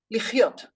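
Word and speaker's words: לחיות: Cha, lichiot, like chayim, like lechaim.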